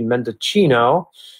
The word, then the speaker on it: Mendocino: It's from Mendocino County. I think that's how you pronounce it in California, although it should be Mendocino if you're Italian like I am.